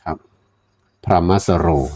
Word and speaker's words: พรหมสโร: ส เสือ นะ ฮ ร เรือ นะ ครับ พรหมสโร นะ ครับ ตัว ไอ้ พราะ นี่ เรา อาจ